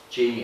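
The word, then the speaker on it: Jayme: At the same time, that same mission, there was Father Luis Jamie, I think it is. Jaime, I think is actually how you pronounce it.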